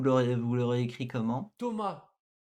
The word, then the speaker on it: Thomas: vous l'aurez écrit comment Thomas c'est pas parce qu'on a un s à la fin que ça va être Thomas non on le prononce pas en français logique donc ne faites pas